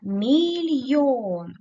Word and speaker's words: мільйон: вашому зошиті подиві дивіться мільйон куди падає наголос правильно на голосний звук о поділимо це слово на